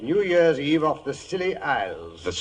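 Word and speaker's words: Scilly: Well, tonight I thought I'd relate how Holmes and I spent New Year's Eve off the Silly Isles.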